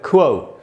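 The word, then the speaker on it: quo: इसका जो correct pronunciation है वो है क्वो।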